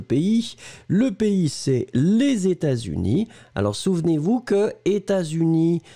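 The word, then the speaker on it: États-Unis: ne comprenez pas d'accord on fait la liaison états dont on ne prononce pas le thé mais il y à un ace et puis après unis et vous fait la liaison états unis ont fait pas de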